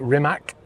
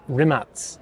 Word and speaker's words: Rimac: And it's what a lot of people pronounce it Rimac with a C, because it is spelt like that. But in Croatian, apparently it's pronounced Rimac.